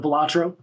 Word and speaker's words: Balatro: Have you heard of Balatro? Say that. How do you pronounce?